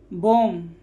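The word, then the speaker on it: bomb: Silent है। बॉम, बी क्या है?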